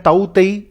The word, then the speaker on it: Tauktae: तो दोस्तों, मैं बात करने वाला हूं साइक्लोन जिसका नाम है ताऊ तेई और जो अरेबियन सी के अंदर आया है। हालांकि इसके स्पेलिंग में के भी आता है, बट दिस के इज साइलेंट।